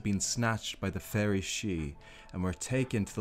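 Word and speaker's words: sidhe: country the tuha became known as the seal pronounced she and fairies and though there no longer ruled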